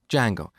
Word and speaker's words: Django: framework called Django so it's spelled with a silent D and it's pronounced Django it's a web framework